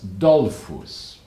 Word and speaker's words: Dollfuss: of the Austrian government the man's name was Dolphus dole foods you spell it capital D o L F you as